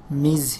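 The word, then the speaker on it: Ms.: বিবাহিত অবিবাহিত সবার ক্ষেত্রেই মিস, এম এস ডট, এটা উচ্চারণ হয় মিজ হিসেবে।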